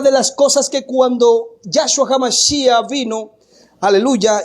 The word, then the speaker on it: Yahshua: Y este nombre, ¿cómo se pronuncia? ¿Cómo se dice, mi hermano? Se dice Yahshua.